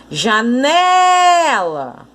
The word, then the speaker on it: janela: Então, eu vou chamar aqui, ó, janela. Pronto, encontrei a sílaba tônica, o né.